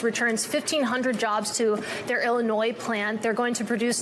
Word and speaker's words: Illinois: just I'm guessing also I don't think it's Illinois I think the S is silent uh when FDR was